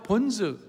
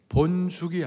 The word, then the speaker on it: 본즉: 뭐라고 되 있습니까 내가 본즉 어 본죽이 아니에요 발음을 잘못하니까 본죽이 그 본죽이 아니고 본즉 뭘 보았는가 2절 3절